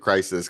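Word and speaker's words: Chryse: I think that it's it looks like it's spelled Christ, but I think they pronounce it crisis cuz I put it as Christ in my in my notes too, but I've heard a couple of the characters call it crisis.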